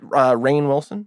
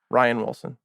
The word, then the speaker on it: Rainn Wilson: Is that Rainn Wilson? Yeah. I think you pronounce it Ryan. Ryan? But it's spelled like Rain. Okay. Ryan Wilson.